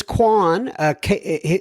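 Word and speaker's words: Cuong: feedback he says it's Quan he he spells it c u o n g but we pronounce it K like it's k w o n he says this Quan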